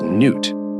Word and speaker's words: Nut: But there is one suggestion, that it is, in fact, a celestial manifestation of the sky goddess Nut, pronounced Nut in Egyptian mythology.